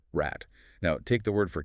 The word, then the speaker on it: Rad: But a German speaker says rat.